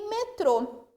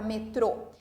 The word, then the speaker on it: metrô: Só uma observação aqui na última palavra, metrô. Se eu tirasse esse acento circunflexo do o que iria acontecer? Ia ficar a palavra metro, que é a unidade de medida, tá?